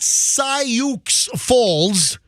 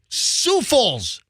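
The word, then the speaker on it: Sioux Falls: them but I hello sou Falls is in South Dakota it is not Sauk Falls su falls I mean that just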